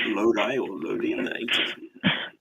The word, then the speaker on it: Lodi: Lodi. Lodi. Is that how you pronounce it?